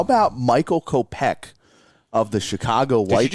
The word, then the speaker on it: Kopech: Might be a little bit of a crazy return here, but how about Michael Kopech of the Chicago Did White you just Sox? put the emphasis on the wrong syllable?